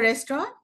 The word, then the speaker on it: restaurant: We went to a restaurant. Not the word restaurant. This is a French word and the T is silent.